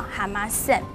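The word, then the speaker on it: 浜線: 那条滨线呢，它的日文发音叫哈马线。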